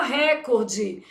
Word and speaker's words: recorde: Só na sua prova que você precisa saber que o certo é o quê? Recorde, porque essa palavra é paroxítono.